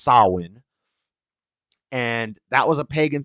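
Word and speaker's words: Samhain: it sounds it's pronounced sawin it's spelled s a m h a i n so it's spelled like Sam Hayne but it's pronounced sawin and that was a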